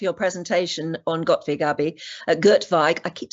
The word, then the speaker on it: Göttweig: Göttweig, I keep saying it wrong. Yeah, Göttweig is right. The pronunciation is right.